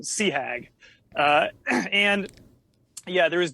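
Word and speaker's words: CHAG: Commander Hornet Air Group which is pronounced phonetically Sea Hag uh and yeah there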